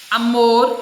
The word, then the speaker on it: amor: Amor, que a sílaba forte é o mor.